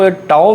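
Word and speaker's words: τ: इस सिंबल को हम टाओ प्रोनाउंस करेंगे ऑफ सबसेट्स ऑफ, ये रहने दें, subsets of x is called topology.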